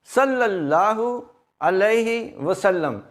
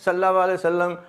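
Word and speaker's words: صلی اللہ علیہ وسلم: ग अलैहि तीन वसल्लम सल्लल्लाहु अलैहि वसल्लम इस तरीके से आप पढ़े बाज लोग सल्ला सल्लम और बाज तो ला कई दफ लगा जाता है सल्ला ला सल्लम तो यह दुरुस्त नहीं है यह इसका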